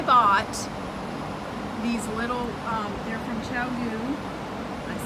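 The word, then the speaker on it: ChiaoGoo: So, just so you know, I bought these little, they're from Chowgu. I said it right this time. Chowgu.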